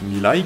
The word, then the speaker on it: Mirai: La Toyota Mirai, à prononcer Mirai qui signifie futur en japonais, est sortie en 2015 et elle atteint déjà à cette époque 500 km.